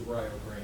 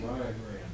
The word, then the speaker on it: Rio Grande: Rio Grande. They actually pronounce it Rio Grande, so it's like an I-A, but it's Rio Grande.